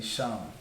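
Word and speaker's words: שם: But the Sha and the Ma become one word, one pronunciation becomes Sham, which means name in Hebrew. So if you want to say name, you would just say Sham.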